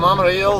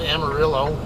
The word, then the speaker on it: Amarillo: doing a load from Amaro or as you guys all like to call it Amarillo I don't pronounce it the stupid American way sorry guys but I got to Spanish speaking life and she'll kill me if I pronounce it that way uh um anyway um